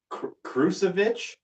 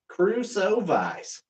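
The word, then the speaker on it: Krušovice: This is the Krusovich? Krusovice. Krusovice. I don't know how to say it.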